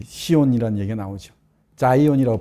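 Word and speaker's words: Zion: 자이온이라고 발음하는, 영어로는.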